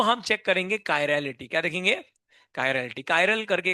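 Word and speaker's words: chiral: तो हम चेक करेंगे कायरेलिटी।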